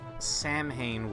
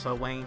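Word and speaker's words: Samhain: Do you know if the leg is available somewhere or is she cuz she showed up again during Sam Hayne? What? Two years ago? It's pronounced So Wayne streamer.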